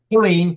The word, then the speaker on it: Killeen: Killeen, correct. Yeah, like Killeen, Texas. If people Okay. are in the military in Fort Hood, they would know that how to say it.